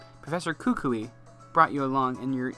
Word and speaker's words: Kukui: pronunciation of this because it's based on the tree it's Kukui Professor Kukui brought you along and